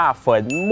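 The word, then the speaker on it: 坟墓: ว่า ฮวงซุ้ย นะ ครับ ใน ภาษา จีน อ่าน ว่า เฝิน มู่ หรือ ว่า นิยม เรียก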